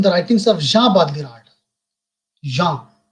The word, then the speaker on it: Jean: Jean, the pronunciation is Jean, and I am writing the spelling is Jean.